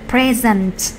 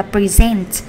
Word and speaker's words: present: có từ precent present Thường thường chúng ta gặp danh từ là present với lại present có nghĩa là hiện tại hoặc là món quà nhưng mà động từ thì mình đọc là precent thì động từ nó